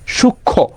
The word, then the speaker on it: সূক্ষ্ম: এখানে ক্ষীয়ই থাকে, সূক্ষ্ম, এটা উচ্চারিত হয় না। এই জন্য কি এটা হবে না, ফলার উচ্চারণটা ক্লিয়ার হবে না। কোথায়? সূক্ষ্মতে। সূক্ষ্মতে কি হবে না, ফলার উচ্চারণ একদমই ক্লিয়ার হবে না, সূক্ষ্ম।